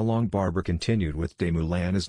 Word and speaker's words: Moulin: Instead, he sent him to be taught by Jacob de Moulin, pronounced de Moulins, a 28-year-old writing master.